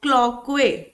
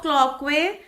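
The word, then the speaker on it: Cloquet: this this canal is called as Canal of clockwise the tea is silent here Canal of clockwise and this space so I have to write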